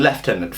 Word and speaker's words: lieutenant: evidence I think that Lieutenant is actually more correct than leftenant firstly it is a French word okay and in France it's lieutenant or something like that this is my bad French pronunciation but uh uh